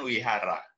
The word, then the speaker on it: Vihara: Kalau Anda lihat di beberapa tempat ada tulisan Wihara, itu kan tulisnya pakai V, Vihara tulisnya. Nah, Oh, itu oh, bacanya kan Wihara.